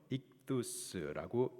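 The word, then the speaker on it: ΙΧΘΥΣ: 익두스라고 읽습니다.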